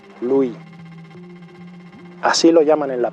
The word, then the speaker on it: Louis: da vida a luz no pronunciamos la s de su nombre en francés louis así lo llaman en